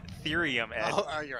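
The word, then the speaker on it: thirium: It's pronounced therium, Ed.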